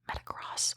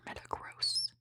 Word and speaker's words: Metagross: Is it Metacross or Metagross? Spelled like gross, so I guess it's probably Metagross.